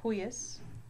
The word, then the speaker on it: huius: and proelium, And we, we, as in huius or huic, or cuius, or hui.